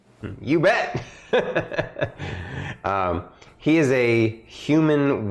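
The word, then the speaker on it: Ubbett: their team is lupano ubet that's l-u-p-a-n-o and then ubet is u b b e t t you bet um he is a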